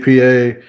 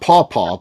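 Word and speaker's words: Papaw: that he it was always pa pa a paa and then she spells it P A P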